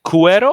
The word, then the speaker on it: cuero: Is it cuero or is it suero for leather? Cuero. Yeah, With a cuero. hard C.